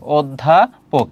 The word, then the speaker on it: অধ্যাপক: পোক, অধ্যাপক। এটি হচ্ছে উচ্চারণ।